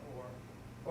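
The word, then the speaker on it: אור: The aleph, which is silent, Yes, and then you have the, O and the leg, yes. O and the resh, R, or. Or, exactly.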